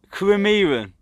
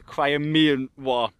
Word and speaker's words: Crimean: How did you pronounce it, Eddie? Crimean. Crimean War. The Crimean War.